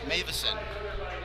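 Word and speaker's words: Mawison: Yeah, this is Mavison. The W pronounces as a V.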